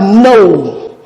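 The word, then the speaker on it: know: Then the last one, we have no. No. It begins with letter K, but letter K here too is silent, and the first sound when pronounced is N.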